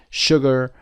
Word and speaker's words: sugar: I told you before the two exceptions are Shore and sugar which are pronounced sh sugar and Shore what two ways can